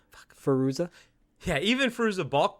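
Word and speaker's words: Fairuza: It's like even you've got Faruka Balka. Jesus Christ! Even how do you pronounce her name? Fuck. Faruza.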